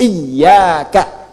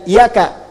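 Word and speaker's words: إِيَّاكَ: Ketujuhnya, ketika membaca "iyyaka na'budu," pembacaan "iya" dilakukan dengan shaddah pada huruf ya dalam "iyyaka." Bacaannya menggunakan shaddah, “iyyaka.” Jadi bukan "iyaka."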